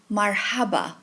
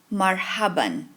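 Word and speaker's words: مرحبًا: ha ba and Alf in general conversation you'll just say Marhaba but more formally you use the tenan F ending and pronounce it marhaban marhaban Ma Isa ma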